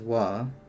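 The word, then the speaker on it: は: It's really important to keep in mind that Wah is only read as wah when it's in the particle form.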